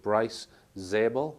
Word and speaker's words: Bryce Zabel: Dolan following Richard Dolan is a guy called Bryce zabel is that the correct pronunciation yes that's right so life after contact